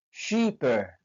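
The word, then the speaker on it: shipper: sheiper sheiper artinya pengirim perhatikan dalam tulisannya shiper Ada dua p tapi dalam penulisan atau pengucapannya hanya satu P yang dibaca jadi pengucapan shiper hanya shiper 1 p sedangkan dalam penulisannya double p dalam bahasa Inggris double konsonan dua konsonan yang berdekatan dalam bahasa Inggris dalam pengucapannya hanya satu konsonan cape cape artinya Tanjung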